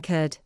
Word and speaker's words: could: The letter L is silent in could, should, calm, half, talk, palm, walk, salmon, and chalk.